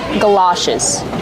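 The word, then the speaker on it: galoshes: And you can also call them galashes. Let's talk about the pronunciation. G like up and cup. Gala. It's an open sound like stop and hot.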